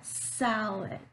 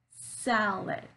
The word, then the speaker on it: salad: syllable so for example salad salad so here I'm stressing on sound that first syllable and the vowel sound and that syllable is longer it's much more clear than the second syllable rise it lick lick